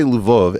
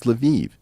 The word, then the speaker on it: Lviv: Now, by the way, if I say Lvov, everyone's going to correct me and say, no, Eric, it's Lviv. It's like, no, these cities all have multiple pronunciations.